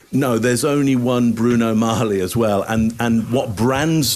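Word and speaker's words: Magli: Either that he thinks it's pronounced Magley, which you're right, Scott. People would have said, you're getting it wrong, mate. You got to look cool. It's actually Marley.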